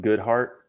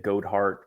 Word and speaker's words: Goedhart: last name that's my my last name is pronounced good heart uh I know it doesn't sound like it's spelled uh it's dutch and uh it's it's something I've been dealing with my whole life you know everyone pronounces it goat heart or God heart but uh good heart uh works for me okay good heart so